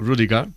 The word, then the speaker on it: Rüdiger: A ver, en alemán sería algo así como Rüdiger, pero lo has pronunciado bien, Rüdiger está bien.